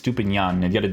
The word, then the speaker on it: Estupiñán: This one that will definitely be a pretty big one for some people is Estupiñán, because Inyan, I think it's Estupiñán. That's how you gotta pronounce his name.